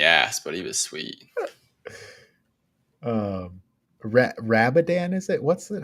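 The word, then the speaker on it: Radobaan: Rabadan, is it? What's it? How do you say his name? Radoban.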